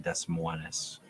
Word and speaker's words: Des Moines: Sorry, it's pronounced Des Moines.